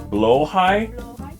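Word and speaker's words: Blåhaj: Blowhai.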